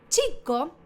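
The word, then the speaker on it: chicco: Acá si no sabemos italiano, decimos chico. Pero yo te enseñé en las clases pasadas que cuando hay doble letra se pronuncia. Además sería chico. Chico, sí, se pronuncian las dos letras.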